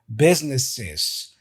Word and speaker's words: businesses: the plural for business businesses you see adding this is this extra is at the end I had to practice